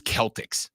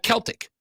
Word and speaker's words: Celtic: and that's fine but the word is Celtic for sure that's the word when when you when you talk about Celtic culture Celtic history you don't say Celtic the fun thing is